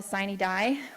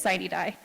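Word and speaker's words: sine die: legislation is actually dead until siney die or Cena die if you want the actual Latin but we don't use that at the Nevada legislature it's sighty die in Nevada we pronounce things our own way all right so on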